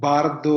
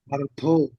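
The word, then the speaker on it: བར་དོ: It's not Bardo. Yeah. Now you know how to read it. It's Yeah. Partho, Partho, Bardo.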